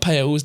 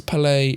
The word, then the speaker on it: Palais: So it's not Pales, definitely not. But it's not Palais, it's Palais. So almost like it's French. Okay. It's Palais, rhymes with ballet.